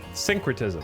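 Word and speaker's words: syncretism: How do you say synratism? Synretism. Okay, I was right.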